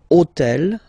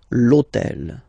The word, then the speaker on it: hôtel: And third example, so I took on purpose this hôtel, okay, because it starts with H, but remember that in French we don't pronounce H, okay, so basically the